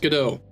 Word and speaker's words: Godot: Godot. What's pronounced Godot.